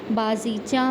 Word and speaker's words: بازیچہ: دیکھ سکتے ہیں بازیچہ، بازیچہ میں با پر زبر آئے گا، زے پر زیر اور